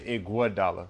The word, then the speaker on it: Iguodala: My father would know how to say his name. He would say Iguodala. Iguodala. But my mother would say Iguodala. But I think I know where my pops from, so. So you would go with the Iguodala. Iguodala is the proper way, but Iguodala is easier.